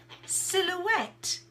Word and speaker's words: silhouette: and Michael you said silhouette so the word silhouette which is a French word so we pronounce it very much like the French so it is spelled